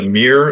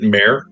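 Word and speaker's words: Mere: What what is what is a a meer mirror? What is it? Yeah. So, this is a place on the Sword Coast that I pulled off of the map. It is the Mirror of Dead Man.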